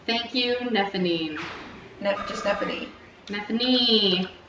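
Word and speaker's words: Nephenee: Nephanine. It's like Stephanie. Stephanie. With an N.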